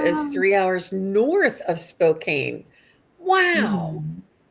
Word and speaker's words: Spokane: Spokane.